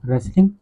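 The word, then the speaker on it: wrestling: तो आप ध्यान रखिए इसमें डब्ल्यू भी साइलेंट होता है। इसमें टी भी साइलेंट है। दोनों को नहीं पढ़ा जाता है। आर इ एस एल आई एन जी इतने को पढ़ा जाता है।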